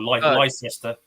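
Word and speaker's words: Leicester: Yeah, that's Yeah, we have we have a few places like that like Glester or Lester Lester.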